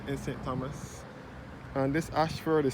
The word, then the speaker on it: Ayshford: poly innocent church and school area situated at Ashford in St Thomas and about to Ashford